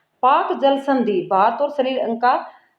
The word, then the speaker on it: Palk: तो ये जल संधि, इसका नाम है पाक। इंग्लिश में इसको बोलते हैं PALK, एल इसमें साइलेंट है, तो पाक स्ट्रेट बोल सकते हैं इसको।